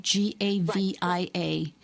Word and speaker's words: Gavia: name of your business again and um it's gavia right g-a-v-i-a gavia g a v as in victor i